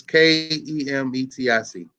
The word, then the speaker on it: Kemetic: You could find something that was spelled like that too, but it's Kemetic.